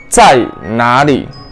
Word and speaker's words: 在哪里: ¿Dónde en chino se dice 在哪里? 在 de cuarta entonación, 哪 de tercera entonación, 里 también de tercera entonación.